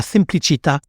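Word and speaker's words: semplicità: partieprix de la simplicité la simplicita avec l'accent tonique sur le a tout en cultivant une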